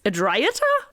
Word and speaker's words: Adriata: led us to believe, but it's Adriata with a T. Like we said, Adriaca, and somehow the pronunciation with the T didn't fit for me, like Adriata. Adriata. So I switched to Adriata. I think in my mind, I just say it Italian and I mean, Adriata.